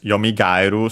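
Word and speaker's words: よみがえる: Technically, as I mentioned, the accent should be on the second to last syllable. But since gaeru, in this case, kairu, it's the original verb, as we'll soon see. Ae are considered a diphthong, and so the accent is on the first vowel of the diphthong, and so on a gairu.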